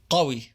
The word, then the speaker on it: قوي: The q sound is usually pronounced as a glottal stop in Egyptian Arabic, like I mentioned before. But Egyptians pronounce this word with a q sound قوي. when it has the original meaning of strong.